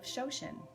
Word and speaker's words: Shoshin: So for our practice today, we are going to set an intention for the class of Shoshin. Shoshin, what is Shoshin? It's spelled S-H-O-S-H-I-N.